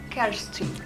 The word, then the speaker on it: Kersting: Dete Castin. A pronúncia tá certa? É Castin. Castin.